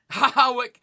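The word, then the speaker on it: Hawick: Hoik. What? How? And what sort of black magic bullshit land is Hawyck pronounced hoik?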